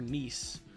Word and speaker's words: NIS: Nis. Or Nice, as the game company pronounces it.